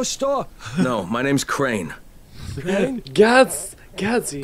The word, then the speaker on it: Crane: Crane? Gazzy. Crane rhymes with train and brain and sane and grain and rain and plane and the other kind of plane and...